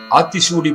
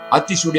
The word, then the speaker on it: ஆத்திசூடி: ஸ்ரீ மகாகவி சுப்பிரமணிய பாரதியாரும் ஆத்திசூடி அருளி இருக்கிறார் அந்த உபதேசங்களை பார்க்க இருக்கிறோம் அதற்கு முன் நூல் பெயரை எப்படி உச்சரிக்க வேண்டும் என்பதை பார்த்து தொடருவோம் ஆத்திசூடி என்று தான் சொல்ல வேண்டும் ஆத்திசூடி என்று சொல்வது தவறு ஆத்திசூடி அமர்ந்த தேவனை ஏத்தி